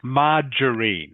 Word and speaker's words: margarine: Margarine is pronounced. Can you say that please? Margarine. Margarine. Good. Margarine. Like I say, margarine. If you haven't seen it before, it looks like butter.